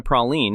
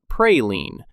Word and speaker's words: praline: The Louisiana praline is a distinct departure from its firm, chocolatey European ancestors. And just so we're all on the same page, the correct pronunciation is indeed praline, not pray-lean.